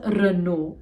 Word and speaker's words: Renault: This is pronounced as Renault. It shouldn't be Renault, Renault.